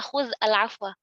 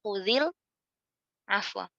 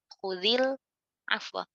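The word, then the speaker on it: خُذِ الْعَفْوَ: Ini kan nggak mungkin kita baca khudz al-afwa. Maka karena sukunnya ini asli, maka kita bacanya khudzil afwa. Dikasihkan harokat huruf pertamanya. Jadi khudil afwa gitu.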